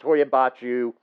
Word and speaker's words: Hoia Baciu: so let's talk about the Hoya Hoya Forest Hoya bachu let's talk about it's located near a city and I'm going to pronounce this for you clug napoca uh it's